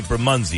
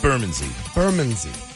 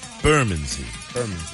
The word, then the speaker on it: Bermondsey: I found out that we were saying it wrong. We would say Bermondsey, and they say it's Bermondsey. Bermondsey.